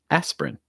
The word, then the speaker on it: aspirin: um our first one here for the medicine aspirin aspirin notice it goes right from the s right to the prin aspirin so it's not aspirin it's just aspirin aspirin for the medicine our second one average